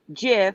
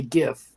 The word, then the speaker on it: GIF: do something funny because it is pronounced jiff a lot of people call it a gift that's true you're right